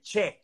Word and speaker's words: che: Claro, porque el che es distinto, se escribe con C de casa e.